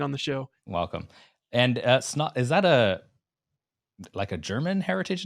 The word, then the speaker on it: Snaadt: I always say my name is Snaadt. It rhymes with odd.